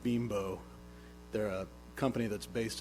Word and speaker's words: Bimbo: of that facility by, I think it's pronounced Bimbo. They're a company that's based in Mexico, and so, they probably didn't realize the implications that name might have here, but so it's Bimbo, and it's a multinational company.